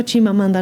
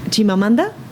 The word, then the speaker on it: Chimamanda: se escribe para buscarlo chimamanda así como suena chim ma manda ch